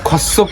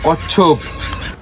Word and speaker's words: কচ্ছপ: আবে ঠিক করে গিয়ে উচ্চারণ কর, ওটা খচ্ছপ না, ওটা কচ্ছপ।